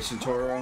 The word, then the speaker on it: Centaur: So, okay, Centauro. How do you say your name now that I hear your voice? It's Centaur. Centaur, okay. Yes, it's like the mythical creature.